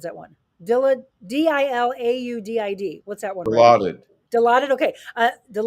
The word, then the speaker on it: Dilaudid: uh is that I don't know how to pronounce that one Dila d-i-l-a-u-d-i-d what's that one allotted Dilaudid okay okay so